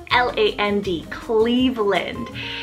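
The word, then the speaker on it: Cleaveland: So this one's spelled C-L-E-A-V-E-L-A-N-D, Cleveland.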